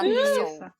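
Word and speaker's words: Nestlé: quem tá nos ouvindo é exatamente como a marca Nestle mas fala niss e aí eu queria pronunciar a palavra correta entendeu Aí eu alguns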